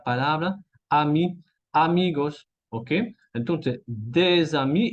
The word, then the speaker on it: des amis: Ahora, si el artículo de y ami están juntos en una oración, voy a tener que decir des amis, ¿ok?